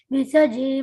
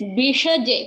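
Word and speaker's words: Bhishaje: Gurave Sarvalokanam Visaje Bhavaroginam Nidaye Sarva Vidyanam Dakshinamurtaye Namaha. Uttamam. It's Bishaje, Kanna.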